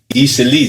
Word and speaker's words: Eastleigh: Easily, that's how that's how they pronounce it.